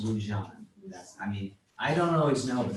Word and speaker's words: Lujan: Yeah, and it is pronounced Lujan.